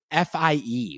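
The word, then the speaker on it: fie: What is F-I-E?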